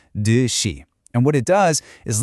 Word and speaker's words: 듯이: It's pronounced 듯이.